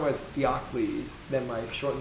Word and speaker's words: Theokles: It is generally pronounced as Theokles.